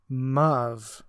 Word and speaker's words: move: When these 2 lines were first written by our author, the words move and love did rhyme, because move in those days was pronounced muv.